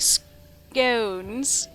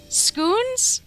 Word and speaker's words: scones: March Hare informs me that in educated circles, scones rhymes with bones like scones. Not scoot. I don't know how he was trying to say scones. The correct way to say scones is burned into my brain. Scoons?